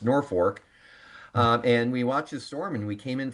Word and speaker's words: Norfolk: It looks like it should be pronounced Norfolk, but it is pronounced Norfolk.